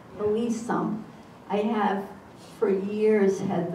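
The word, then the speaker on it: Hillesum: We bring the students to Dachau, and one thing you've taught me is how to pronounce Eddie Hill. I call it Hilsum, Hilsum.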